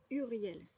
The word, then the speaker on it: Uriel: en lien avec l'Archange Uriel ou Uriel que je vais vous montrer ici j'ai une toute petite photo voilà Urielle donc Uriel moi je prononce comme ça qui signifie lumière de